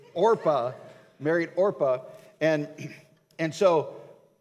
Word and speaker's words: Orpah: the two women were ruth and orpah not oprah she's got the talk show it's orpha married orpah and and